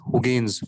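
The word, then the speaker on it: Huygens: name was christian gaines it's been pronounced as hogans okay so is christian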